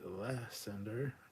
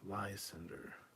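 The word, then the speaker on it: Lysander: you pronounced it correctly some say less sander Greeks the rest of the world lies Cinder thank you for answering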